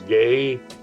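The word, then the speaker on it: Geyh: you doing really on his case said Charles gay that's spelled g-e-y-h gay an International University law professor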